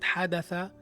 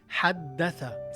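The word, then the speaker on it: حدّث: It's not حدث, it's حدث. You stress the letter. Whenever you see this, you stress the letter. حدث.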